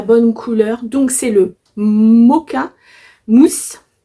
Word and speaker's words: Mocha: couleur donc c'est le moka mousse ça s'écrit mocha mais Moka mousse donc voilà c'est un